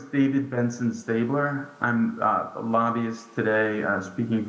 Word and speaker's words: Staebler: David Benson Stubler, and help us with the pronunciation of your name in case I pronounce it wrong. Thank you. Hello, it's David Benson Stabler.